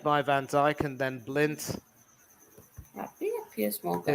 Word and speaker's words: Blind: from Ake, met by Van Dijk and then Blint. Yeah, PS Morgan. His name is spelt blind, but he's certainly been anything but tonight.